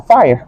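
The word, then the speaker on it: FHIR: h i r pero se pronuncia fire como como fuego y este simplemente es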